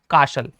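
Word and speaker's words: castle: एल ई एस टी का combination T आपका silent हो जाएगा। चुप हो जाएगा। यानी इसे क्या पढ़ेंगे? कासल है ना? कासल का मतलब क्या होता है? किला। कैशल नहीं पढ़ेंगे।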